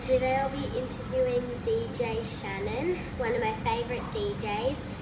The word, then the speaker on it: Shann: Hi guys, I'm back and today I'll be interviewing DJ Shannon, one of my favourite DJs. His name is pronounced as DJ Shann, and I saw him